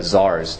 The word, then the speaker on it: czar: even had tried to assassinate one of the czars the kings I don't have that word up